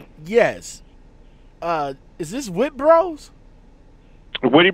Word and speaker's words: Witte: Witte Bros, yes. Oh, Witte Bros. That's how you pronounce it.